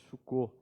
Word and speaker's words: Sukkot: A festa dos tabernáculos, conhecida como festa das colheitas, ou Sukkot, devido ao significado original hebraico Sukkah, em que o plural pronuncia-se Sukkot.